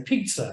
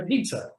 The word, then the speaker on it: Peter: I'd show them my passport and I'd say, my name's Peter. They'd say pizza. And I'd say, no, Peter.